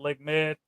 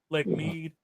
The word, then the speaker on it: Lake Mead: I'm sure Lake Mead is it's either because some people pronounce it Lake Med, Lake Mead. But MEAD.